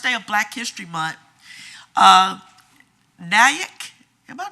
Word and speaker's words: Nyack: On the first day of school, the first day of Black History Month, Nyack, am I pronouncing that right? Nyac, it's like Mac, but Nyack.